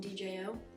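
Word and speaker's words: Djo: Krux by Joe, or if you call him DJ, totally acceptable. I just found out like late 2024 that it's pronounced Joe.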